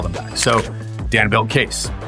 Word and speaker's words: Kayse: Let me introduce you to Case. Meet Dan Jacobs, co-founder and CEO of Case. That's spelled K A Y S E, pronounced Case.